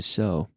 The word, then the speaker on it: sew: people use them to sew sewing machines are used for sewing to so s e w sew sew sew a sewing machine sew but it's pronounced just like so they and then--this so